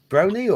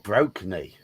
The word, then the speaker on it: Brony: I'm Ready I'm Ready the Brony the Brony Brony or broky no BR broky not BR Brony pronounce it Brony half bro and half pony you immediately attack this